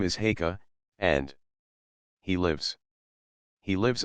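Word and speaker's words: Haigha: happy his name is heah he pronounced it so as to rhyme with mayor I love my love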